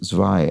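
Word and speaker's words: zwei: for two which is zvai and rhymes with Thai uh the difference being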